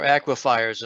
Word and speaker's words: aquifers: all know, in Ossipee, aquifers, or aquifers, as some people pronounce it.